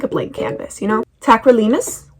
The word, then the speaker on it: tacrolimus: Tacrolimus? Is that how you pronounce it? Tacrolimus. Tacrolimus. I was right.